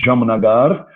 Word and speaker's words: Jamnagar: vai ver que a palavra Jamnagar não é R Holland no final. A cidade chama Jamnagara. Jamnagara. Mas como você fala Jamnagara na prática? Jamnagar. Jamnagar.